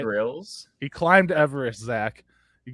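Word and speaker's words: Grylls: then it's just that bear Gillis gorillas I think it's grills say it right grills he climbed Everest Zach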